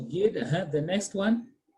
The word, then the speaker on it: guide: Considering U is silent. So how will you read it? Quit. Gid. So gid.